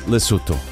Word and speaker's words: Lesotho: so which is it well it's lesotho even though it's spelled with an o in the middle but i didn't know